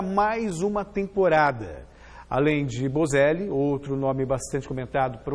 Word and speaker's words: Boselli: Sendo o nome italiano, é Bocelli. Sim. Se for pronunciado como espanhol, é Bocelli.